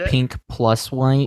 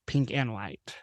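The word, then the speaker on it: Pink + White: a show or movie actually called pink plus white well okay but I'm sure it's pronounced pink and white um and it's it's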